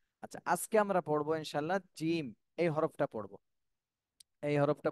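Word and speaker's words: جيم: এর আগে আমরা এই যে হাঁটা পড়েছি নরম, আর জিম এটা কিন্তু শক্ত, শক্ত হরফ, শক্ত করে বলতে হবে। জিম, তিন আলিফ টান দিতে হবে এবং এটা শক্ত করে উচ্চারণ করতে হবে।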